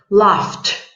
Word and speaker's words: laughed: saga next exercise sorry loft laughed yes the pronunciation is loft love infinitive love loved